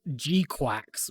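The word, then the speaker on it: GQuuuuuuX: we have not first of all it's called gqu which is spelled GQ uu uu uuux don't worry about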